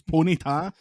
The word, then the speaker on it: Ponyta: you Jordan's on six heard Americans pronounce that Pita yeah stupid what the Americans see if you actually see like a a smaller horse you call it a pony it's a pony so it's Ponyta America this one again is